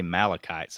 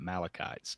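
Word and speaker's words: Amalekites: teaching how wicked the i say malachites i i'd say the a is silent and i call it malachites but i couldn't sounds easier to say i'ma go with that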